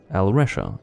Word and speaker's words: Alresha: each letter in turn, I realized Alresha is how I pronounce that.